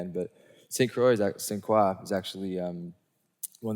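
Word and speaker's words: St. Croix: here St I call it stact we say St Croy in America but it's in the Caribbean it's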